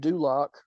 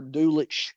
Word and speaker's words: Dulac: And last but certainly not least, due to injury, Greg Dulac, or Dulich if you say it how it's spelled, but I believe it's pronounced Dulac, was placed on IR,